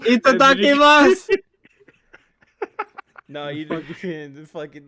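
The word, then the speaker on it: いただきます: Yeah, you're gonna go to Japan and go ikitakimasu. Itadakimasu. No, you fucking like the full anime. You gotta pronounce every U at the end of every.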